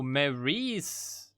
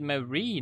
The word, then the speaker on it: Marie: to marie marie oh maryse oh you you pronounce it marie not mary okay that makes sense